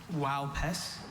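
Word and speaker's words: Uaupés: Wow, Pes. Wow, Pes. Alternate pronunciations?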